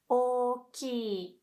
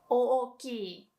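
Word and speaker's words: おおきい: In hiragana, you would write the letter o twice, oki, right? But don't pronounce it like oki. Just say oki. Remember that there are only two o, so don't make it way too long, like oki. Just oki.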